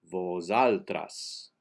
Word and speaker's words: vosaltres: base buddha is juan the s in vosaltres the first s is pronounced like a z vosaltras the accent is und same page and measure